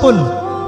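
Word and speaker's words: قل: তাজবিদের সাথে পড়তে হবে যেমন একটা অক্ষর আছে বড় কফ যেমন কফ দিয়ে একটা শব্দ আছে কুল আপনারা সূরা পড়ছেন নামাজে কুলহু আল্লাহু আহাদ তাই পড়ছেন না তো এই কুল শব্দের অর্থ হচ্ছে বলুন কিন্তু আপনি যদি কফ এর মাখরাজটা ভুল করেন এবং কফ না বলে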